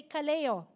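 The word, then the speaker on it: καλέω: use it but in this passage it was Kaleo okay can you say Kaleo something like that so that is how you pronounce it so uh so that's a call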